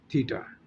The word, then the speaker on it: theta: It pronunciate as थीटा। इसकी pronunciation जो है वो थीटा है।